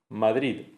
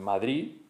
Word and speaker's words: Madrid: determinadas zonas de España pues se vuelve el sonido Z o el sonido T, como en Madrid, Madrid, la ciudad de Madrid o la Comunidad de Madrid, en la que se pronuncia Madrid o eh Barcelona, la zona del Levante que tienen catalán y valenciano. Y entiendo que en determinadas zonas no se se dirá Madrid con T, la o verdad.